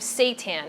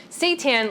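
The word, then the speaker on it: seitan: be made out of Satan now Satan let me just explain what that is first of all it's spelled s i t an I know it sounds like something else but it's actually wheat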